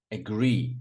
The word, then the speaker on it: agree: Agree. A lot of students say agree. I agree. No, I agree. Agree.